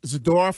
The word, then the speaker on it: Zadorov: and even the uh zidor is that's how you say his name yes they continue to